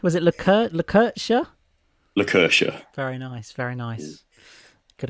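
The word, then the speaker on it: Lakertya: that obviously is wrong uh how was it pronounced sorry was it luca le curcha lucercia very nice very nice good old randomly named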